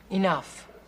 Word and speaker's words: enough: Enough. What? See the GH at the end of that word? That's pronounced like an F.